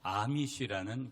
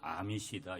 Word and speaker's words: 아미시: 그런데 이 영화를 왜 여러분에게 소개하고 싶냐면, 여기에 어떤 사람들이 나오냐면 아미시라는 공동체가 나와요. 다른 우리 한국어 번역으로는 아미시다 이렇게도 번역을 하는데, 또 아미시라고 발음을 따라서 그렇게 하는 것 같아요.